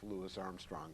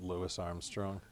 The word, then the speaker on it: Louis Armstrong: I love, by the way, I love that you pronounce it Louis Armstrong. Have you heard how he responds to people who call him Louis Armstrong? No. He always said, my mother didn't birth a Frenchman.